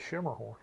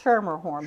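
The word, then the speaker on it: Schermerhorn: at sh Schumer horn most people have an issue of pronouncing it because they lose that R in the first I never I always called it Shimmer horn and most people do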